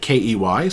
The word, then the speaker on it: Key: Now, the one thing I look forward to the most is that they spelled it K-E-Y, so people will correctly pronounce it Key.